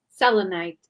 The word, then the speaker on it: Selenite: Selenite.